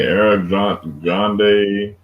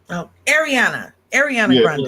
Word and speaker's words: Ariana Grande: I'm not good at pronouncing her name. Eric Grande. Yeah. Ariana Grande.